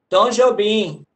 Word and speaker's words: Tom Jobim: Tom Jobim. É Tom Jobim a pronúncia.